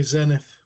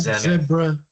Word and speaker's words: Zenith: I always say Zenith. I think it's Zenith, yeah. We'll stick with Zenith. Like zebra crossing, not zebra crossing.